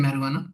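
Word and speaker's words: marijuana: इसको प्रोनाउंस करते हैं मैरवाना।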